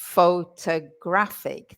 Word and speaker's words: photographic: photographic. The second one is a schwa. Yeah. And then we have the real stressed syllable, which is graphic, photographic.